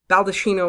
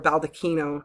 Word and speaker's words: baldacchino: What we're looking at here is the baldacchino or baldacchino, depending on your pronunciation, made by Bernini.